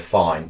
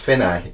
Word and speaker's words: Fine: a little bit confusing looks like work fine but I've been told by proper musicians it's pronounced fini like that that's good I'm going